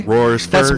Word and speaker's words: Royersford: railroad plaza um in royersford pennsylvania i learned how uh how to say it properly roars first one yeah i i kept